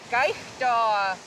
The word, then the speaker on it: kaigtua: Gaishda. Gaithdoa.